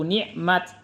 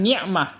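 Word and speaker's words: نعمت: Kalau kita waqaf menjadi wazkuru nikmat. Bukan nikmah tetapi nikmat.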